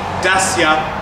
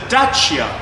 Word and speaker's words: Dacia: So today I'm going to be reviewing the 2019 Dacia Duster, or it's also called the Dacia Duster. That's how it's supposed to be pronounced, guys.